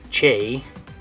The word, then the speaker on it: che: lesson okay so uh when it was a letter the way they set it the name of it was Che okay so this would be called the che um so you have